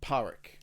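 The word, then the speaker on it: Pádraic: Park Park yeah Park it's spelled padraic that's how you would read it in English that's right yeah but it's like powerick yeah yeah uh it's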